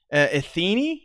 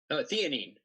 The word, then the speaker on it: theanine: Athene, is that what you were saying? Theanine. Oh, theanine. Yeah. No, what is that? Theanine.